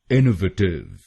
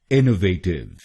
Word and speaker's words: innovative: तो हम तीसरे शब्दांश को यानी VA हम बोलेंगे वे और बाकी 3 शब्दांशों की प्रोनाउंसिएशन सेम है। तो ये बनेगा इनोवेटिव। इनोवेटिव। और इसमें भी हम पहले शब्दांश पर यानी INN पर जोर डालेंगे।